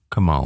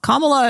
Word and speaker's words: Kamala: different ways um so I remember her putting the emphasis on the second syllable so it was like Cala Kamala Cala was how she pronounced it not Kamala not Kamala Kamala is actually how Indian